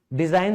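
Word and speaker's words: design: अरे किसी ने बोला हो पहली बार रीड कर रहे हो तब नहीं ना डिजाइन सुना है तो डिजाइन ही बोला है रूल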